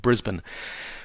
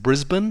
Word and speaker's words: Brisbane: or so north of Brisbane cultural sensitivity point you pronounce it Brisbane and you also pronounce it Melbourne uh not Melbourne or Brisbane uh you always kind